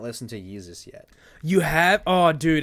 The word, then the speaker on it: Yeezus: Yeezus. Is it better than Jesus. Which Yeezus? one's Yeezus? The Yeezus is the one that's like a disc, right? yeah, yeah. I have not listened to Yeezus yet.